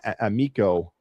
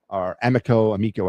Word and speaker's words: Amico: And this is an interesting young man right here, Carter Amico, Amico, I think he pronounces it, the right-hand defenseman from Boston University of the NCAA.